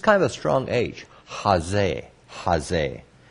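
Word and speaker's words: chazeh: good okay okay so jose what is the term jose i spell it this way ch a z-e-h with the emphasis here jose and this really isn't a cha i say it that way but it's just kind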